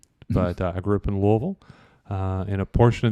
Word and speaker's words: Louisville: that's very good close you got to say it like you've got a little bourbon in your mouth and you don't want it to spill out Louisville okay we'll get there before